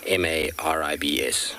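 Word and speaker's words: Maribye: little leopard now because it might not sound like it's spelled so it's m a r i b y e and pronounced m-a-r-i-b-s maribs so there we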